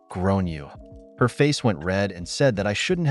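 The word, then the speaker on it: Gráinne: and I said well in Ireland they typically pronounce it like Gran you her face went red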